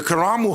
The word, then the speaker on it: Karamu: community just doing things the karamu house not caramel house the karamu house turn